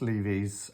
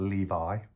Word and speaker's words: Lévi: Uh Elephice Levy's um now I never know if it's Le it's not Levi like the jeans but I think it's Levy I think is how you pronounce his name.